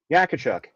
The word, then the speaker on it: Yakiwchuk: Yacobchuk.